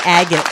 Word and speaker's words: agate: energy and for grounding red agate rhymes in your mind what agate rhymes with magnet magnet thank you question